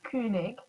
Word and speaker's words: Koenig: Yeah, so Koenig is German, but the original pronunciation is Koenig, and it usually has an O with an umlaut and an E in it.